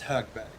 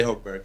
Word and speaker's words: Högberg: Högberg. There That's we the go. Swedish way to say it. You can say Högberg or whatever you want.